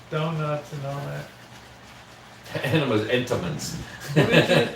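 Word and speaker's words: Entenmann's: The enemas, donuts, and all that. Enemas, entomans. What is it? Entomans, not enema. How do you say that? Entoman. Not enema.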